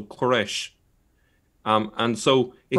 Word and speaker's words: Quraysh: Yes, I suppose this is open to discussion, but the word seems to be related to the Persian pronunciation of Cyrus, so Quraysh.